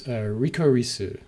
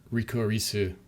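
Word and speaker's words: リコリス・リコイル: Rikorisu. Is it? No, it's Rikorisu Ricoiru, which is apparently like the licorice is a type of flower, which is a real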